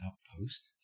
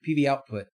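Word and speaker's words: PVOutput: connectivity should be able it's not output i'm pretty sure it's outpost world's biggest project is it output i thought it was outpost sorry pv output i said it wrong yeah so you set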